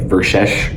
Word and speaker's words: Wrzeszcz: name is Anthony and apparently his last name the way you pronounce is like veresh or something like that um shout out to